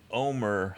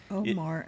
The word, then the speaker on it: Omar: nothing is her fault jeff keeps pronouncing homer homer omar is homer yeah is he homer